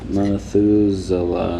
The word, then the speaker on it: Methuselah: So, Methuselah in the Bible supposedly lived Methuselah. Is that how you pronounce it?